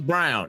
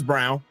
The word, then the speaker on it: Braun: It's Brown. It's Brown.